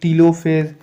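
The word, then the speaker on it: telophase: आई एल ओ पी ह ए एस ए तिलो फेस जो की हो जाता है प्रक्रिया ऑफ पहला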